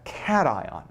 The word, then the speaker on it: cation: atom is called a cation. And if you have trouble and that it looks like it could be pronounced, but it is not pronounced. It is pronounced cat ion.